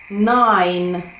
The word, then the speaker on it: nine: Е, тобто літера i каже своє ім'я.